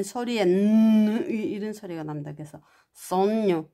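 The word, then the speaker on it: sogno: 그래서 손녀 뭐 이렇게 그렇게 발음합니다.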